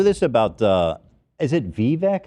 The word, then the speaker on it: Vivek: clap I knew this about uh is it vivec how do you say his first name Vivek ramaswamy Vivek okay uh ramaswamy I knew it